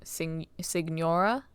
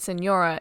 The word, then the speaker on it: Signora: Yeah, his name's Child, and then I might also need to sue Signora. I pronounced it Senora until I realized there was a G in there, and now I don't know what I'm doing.